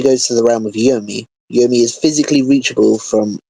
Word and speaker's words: Yomi: The pronunciation, Yomi, is not Chinese and is probably a name native to Japan.